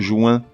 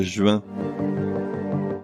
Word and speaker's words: juin: des cigarettes qui font rire qu'il faut le prononcer juin. Non, on dit le mois de juin.